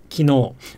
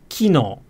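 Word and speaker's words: 昨日: osaka so for example the word for yesterday in standard japanese is kino with the accent on the no but i believe in osaka it's kino with the accent on the key i typically encourage japanese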